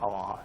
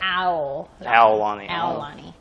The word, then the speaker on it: Aulani: Spell it. A-U-L. Is that right? Uh-huh. Okay, because I always want to say A-L-A-U. But it's not Aulani. It doesn't matter. It's Aulani. Aulani.